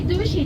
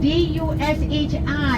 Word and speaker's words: Dushi: If I say Dushi to you, D-U-S-H-I, you remember that name? But you have to spell it.